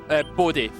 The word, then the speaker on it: Bodie: Bodie, but with a D instead of a W. Just spell it. B-O-D-I-E. Confirm. Bodhi.